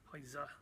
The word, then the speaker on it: Heise: We've got the opportunity to go down and Michael did, to speak to Philip Heise, which I believe is the correct pronunciation. Yeah, the Z, isn't it? Heise, yeah.